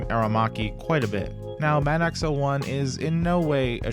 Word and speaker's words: MADOX-01: Skin MADOX-01, and yes, that is how it's pronounced.